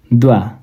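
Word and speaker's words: dva: प्रनाउन्सिसन कतिपय वर्डहरुको फरक हुन्छ यो चाहिँ जिलै यदान एक द्वा दुई यो द्वा भा नभएर वा है खासमा द्वा लेखाइमा मिसेको छ यहाँ।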